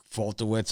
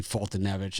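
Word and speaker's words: Foltynewicz: pronounce his name again i falter wits i'll call him or something like that but it's actually fultonevich and i forget just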